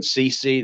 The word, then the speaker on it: Ceci: look at the studies dr stephen sisi that's spelled ceci his book jeopardy in